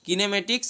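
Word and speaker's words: kinematics: আরেকটাকে বলা হচ্ছে কিনেটিক্স অনেকে কাইনেমেটিক্সও বলে তো যাই হোক তুমি উচ্চারণ হিসেবে বলতে পারো কিনেমেটিক্স আর কিনেটিক্স তো কিনেমেটিক্স টা কি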